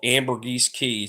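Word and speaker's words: Ambergris Caye: um you go on YouTube and pull up Amber GES key spelled a m b e r g r i s key it's spelled c a ye and uh the area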